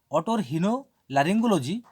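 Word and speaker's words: otorhinolaryngology: লারিংজি অটোর হিনো লারিঙ্গোলজি এটা সিলেবালের মতন ভাগ করে নিতে হবে এরকম ডিভাইডেড করে নিলে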